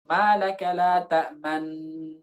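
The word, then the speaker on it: تأمنا: Jangan langsung. Jangan ta'man. Jangan. Tapi idghamkan sebentar. Ta'man. Baru dimajukan. Wa muqarinan lil ghunnatil mutawwalah. Kemudian dibarengi. Jadi setelah dimajukan, jangan ditarik dulu gitu. Dibiarkan dulu. Malaka la ta'man. Nah, dibarengi dulu. Isyarat kedua bibir maju dibarengi dengan ghunnah. Malaka la ta'man ala Yusuf. Seperti itu.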